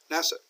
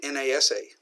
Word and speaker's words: NASA: familiar with would be NASA National Aeronautics Space Administration but we don't say na sa we say NASA we pronounce it like a word ROC are okay but